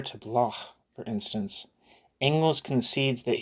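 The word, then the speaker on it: Bloch: to block for instance sorry I'm trying to do the German pronunciation block for instance angles concedes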